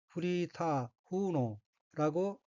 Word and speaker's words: フリーター風の: 셋째 줄 맨 왼쪽에 엉키는 한자가 바람풍자가 들어있고 일본어로는 프리타 후노라고 읽으며 프리타는 일본식 조어로서 일정한 직업이 없이 아르바이트